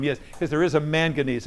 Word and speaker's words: manganese: Manganese. Past Ezra, I can't pronounce that.